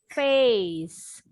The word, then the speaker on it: face: Jadi yang bunyi ini huruf C-nya seperti S. Face.